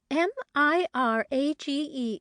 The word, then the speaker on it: mirage: give it up he added Mirage and marriage m-i-r-a-g-e is pronounced Mirage said valency shortly picking up her